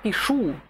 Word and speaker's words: пишу: Я пишу. Al presente, solo in questa forma, l'accento tonico è sulla fine della parola.